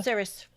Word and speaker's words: CIRES: Is that how you say it? CIRES? Yeah, serious. Mm-hmm.